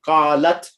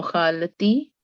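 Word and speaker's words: قالت: Qala, qalu, qala, qala, qalu, qalat. No, khalati. Nay, qalat, just qalat.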